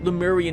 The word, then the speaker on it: Lemuria: the other facilities and Lemurian history. Yes, Lemuria. I've been pronouncing it wrong for years.